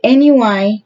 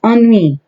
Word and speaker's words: ennui: It says, oh, the NUI or NUE is so thick around here. How do you say that? Oh gosh, hold on a minute. Okay, I said it totally wrong. It's ennui.